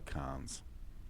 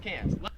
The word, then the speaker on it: Cairns: The Australian accent just leaves the R off if it's ever in the last syllable of a word. So you would pronounce Melbourne, Melbourne, and you would pronounce Cairns, Cairns.